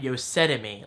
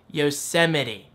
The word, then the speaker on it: Yosemite: the correct way, because at first I was saying Yosetime, like Yosetime. But then I was thinking, wait a minute, and before the T, Yosemite.